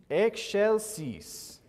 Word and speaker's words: excelsis: from a pronunciation guide this is one of those vowel combinations that has a different sound that X and the C right next to each other makes that sound okay so let me